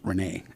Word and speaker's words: René: I grew up here hearing my name being pronounced Renee and here in the US the Renee is a very common female name and um uh there's